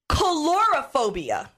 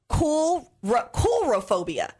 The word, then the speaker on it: coulrophobia: Calorophobia. I'm probably pronouncing that wrong. Calorophobia. Calorophobia? Yeah, C-O-U-L, coulrophobia. R-O-phobia. Coulrophobia.